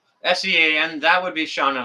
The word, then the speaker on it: Sean: Diane, it's spelled with a W. S-E-A-N, that would be Sean in Alaska.